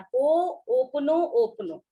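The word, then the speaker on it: Ho'oponopono: और जैसे कि ये होपनो होपनो, इसको प्रोनाउंस कैसे किया जाता है, हो ओपनो ओपनो, तो दिस इज द प्रोनाउंस, सही प्रोनाउंसिएशन जो है इसका, दैट इज द थिंग।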